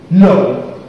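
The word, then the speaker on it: know: King and no.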